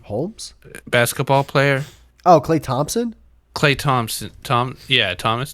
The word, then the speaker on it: Thompson: it without a pig you're just saying thompson like it's thomas well that's just how i say it top top skip silent p okay whatever okay so